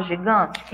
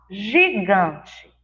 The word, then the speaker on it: gigante: Assim como nós vimos que a letrinha C muda o som, a letra G também, quando a letra G está ao lado, abraçadinha lá com as letras E e I, vai ter o som de J, de janela.